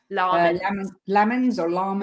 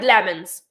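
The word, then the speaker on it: Lammens: So in his video, he says, my name is Sene Lamens. And everyone's like, lemons. And I'm like, no, lamens. Like you're singing lamens.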